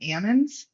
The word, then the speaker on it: almond: word almond you know here in the valley we call them Ammons and people will say well how are you supposed to pronounce them and I always say I really don't care how you pronounce them as long as you eat them but the back story is that they are an almond on the tree and then they get the L shaked out of them and then they